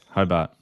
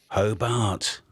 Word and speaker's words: Hobart: South, Hobart. Hobart. Hobart. Oh, there's a big estuary there. There's an R in there. He's almost as far south as I am north. That's a silent R.